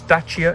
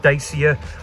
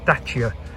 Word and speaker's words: Dacia: initiated, a Dacia Sandero, and that's the correct pronunciation of the brand. It's Dacia, not Dacia or Dacia or however, it's Dacia.